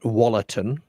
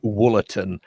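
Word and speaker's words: Wollaton: t o n and naturally I pronounced that walatin. It looked like it was pronounced watin. I am reliably informed by uh commenters that it is woolin.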